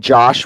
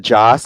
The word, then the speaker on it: Joss: yeah and also also if everyone keeps saying Josh Whedon instead of Joss I'm gonna smack y'all